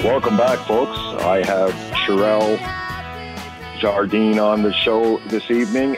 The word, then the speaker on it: Cherelle Jardine: Cherelle Jardine.